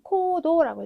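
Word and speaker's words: 行動: 그래서 여기 갈행자 보시게 되면 자, 우리 여러분이 더 많이 들어보실 만한 발음들은 네, 음독 기본 발음 코우이겠죠. 그래서 행동 같은 경우에는 코도라고 읽어주시면 됩니다.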